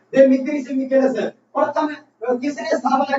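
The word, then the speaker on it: Demetrios Vikelas: तो यहाँ पर गलती लिखने में हो सकती है, लेकिन जो उच्चारण प्रोनाउंसिएशन कर रहा हूँ देवमित्रिस विकेलस।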